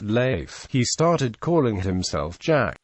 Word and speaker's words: Leif: river around this time frustrated by Americans who pronounced his name leaf instead of life he started calling himself